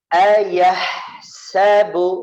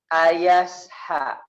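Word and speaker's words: أَيَحْسَبُ: Ayah sabu, ini pelajaran ya selanjutnya. Yang ketiga berarti ya. Ayah sa. Jangan ayas ha. Hati-hati. Haknya masuk ke sin ya. Hati-hati. Sempurnakan dulu haknya. Ditaruh di tengah tenggorokan kita.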